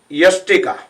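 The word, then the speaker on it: yastika: say ustikkasan stick pose but actually it pronounces yestika y-a-s-t-i-k-a yeah not us but yes yes ustra and utkatasana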